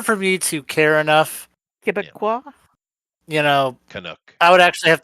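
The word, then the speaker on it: Québécois: saying to me that it's pronounced Quebecois, and then I Um, say, "Fuck off, Frenchie." For me, in order for me to care enough, Quebecois.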